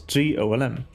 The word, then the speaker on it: GOLM: which is of course golm much to his surprise this ends up being pronounced like golem anyway on a side